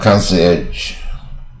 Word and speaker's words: concierge: 然后 concierge 也是法文过来的，concierge 就门房啊，看门的人。